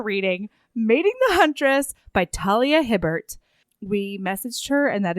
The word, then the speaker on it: Talia Hibbert: because we are reading mating the huntress by Talia Hibbert We messaged her and that is in fact how you pronounce her name thank you so much for